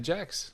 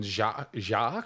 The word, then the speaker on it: Jackes: C, so just pretend it doesn't have a C. It's bastardised French. And it's Jake's, right? Yeah, and that's where it comes from. Yeah. So not then Jacques? Yeah, it's definitely not that.